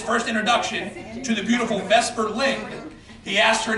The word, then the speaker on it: Vesper: And a lot of people mispronounce it as Vespa, Vespa is the Italian scooter. Vesper is Vesper Lynn.